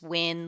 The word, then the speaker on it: Nguyen: ago my last name win it's pronounced win like we will win the championship game uh feel free to